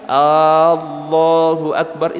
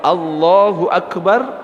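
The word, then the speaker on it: الله أكبر: itu artinya sudah beda kalau Allahu akbar artinya Allah maha besar tapi kalau a-nya panjang Allahu Akbar itu artinya Apakah Allah Maha Besar makanya harus benar cara baca Jangan sampai salah Panjang pendeknya jadi dalam sebuah syair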